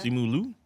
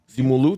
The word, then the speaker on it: Simu Liu: Simu Liu. Simu Liu.